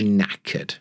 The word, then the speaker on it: knackered: she is knacked knacked the K is silent knacked there's two sounds